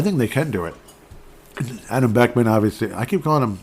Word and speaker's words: Adam Beckman: Adam Beckman, obviously. I keep calling him, yeah, okay, I did pronounce the name right. Adam Hartman, Ryan, yeah, Adam Beckman.